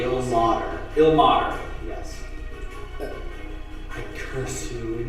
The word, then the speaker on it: Ilmater: What do we say the pronunciation of the god's name? Ilmater.